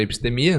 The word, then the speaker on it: Epstemia: Bom, você pode me encontrar pela Epistemia, né? @EPStemia, como se fala. Com P mudo só.